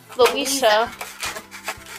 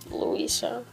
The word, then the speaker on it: Luisa: okay there and then the next one is luisha it's louisa not louisa louisa it's louise it doesn't go drip drip drop whatever it's how's it go it's pronounced luisa cover your faces i